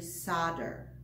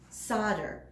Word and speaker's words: solder: a funny pronunciation do you know how to pronounce it it's actually solder the Ellis Island solder it means to join metal objects using heated